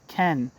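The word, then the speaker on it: Caen: end quot and the French town of Ken k which is spelled c a e n that's my guess at pronunciation in Normandy consisting of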